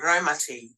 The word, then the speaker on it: Raumati: For example, we live in a place called Raumati, and to pronounce that as close to the correct pronunciation as possible, I have to type in ROW.MUTTY.